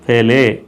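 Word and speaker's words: פלא: அதை எப்படி கூப்பிட்றாங்க, பேலே, பிஇஎல்இ பேலே. அதை எப்படி உச்சரிக்கணும், அந்த ஃபோனட்டிக் அப்படி கொடுத்துருப்பாங்க, பேலே அப்படின்னு சொல்லி உச்சரிக்கணும்னு கொடுத்துருக்காங்க.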